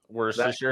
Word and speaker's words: Worcestershire: how do you say, Worcestershire? Worcestershire.